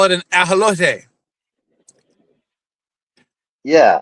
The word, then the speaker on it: ajolote: They call it an ajolote. Yeah, It's I'm American. spelled exactly the same. It's just pronounced differently.